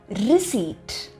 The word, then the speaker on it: receipt: Nam engayadhu pona bill kudupanga illaya, adukku English la receipt.